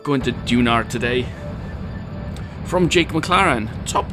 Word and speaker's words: Duna: anyway go Tolar LOL dunar yeah that's that's the way I say Duna dunar it sounds like I say an r on the end but it don't but because I'm Welsh